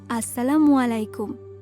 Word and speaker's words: আসসালামু আলাইকুম: না না বাবা, আসসালামু আলাইকুম। সঠিকভাবে যদি তুমি সালামের উচ্চারণটা না করতে পারো, তাহলে সালামের অর্থটাই বদলে যাবে।